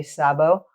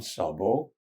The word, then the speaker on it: Szabo: Sabo.